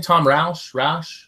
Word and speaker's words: Rash: Tom Rash. Rash. Like you have an itchy red spot.